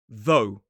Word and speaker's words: though: Whereas the voiced th sounds more like a b or a fly. It's the same sound we see in the word though. though Again, if you put